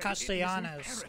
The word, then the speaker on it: Castellanos: Castellanos. Okay, so I was pronouncing it wrong the whole time.